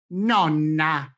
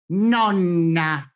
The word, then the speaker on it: nonna: GRANDMOTHER I pronounce the first ENNE, and then I extend the sound of this ENNE an instant longer then for the same word with only one consonant.